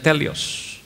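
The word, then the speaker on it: τέλειος: Kata sempurna di situ dalam bahasa aslinya adalah telios atau teleos tulisannya dibacanya telios yang artinya adalah matang.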